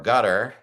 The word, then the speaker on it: Qatar: President Trump by the country of Qatar or gutter. Some people pronounce it gutter.